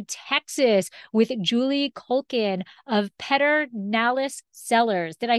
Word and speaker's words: Pedernales: remotely traveling to texas with julie culkin of peter nalis sellers did i say it correctly you did